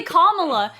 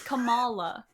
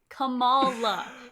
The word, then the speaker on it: Kamala: Cuz when we say Kamala, it's like Kamla Harris, but that's not how you say her name. It's Camala. Camala.